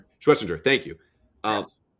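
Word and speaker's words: Schwesinger: Schwestinger.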